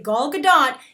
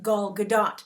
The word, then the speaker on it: Gal Gadot: Guys, what catches your eye right away as you see Gal Gadot? Yes, that's the correct pronunciation of her name.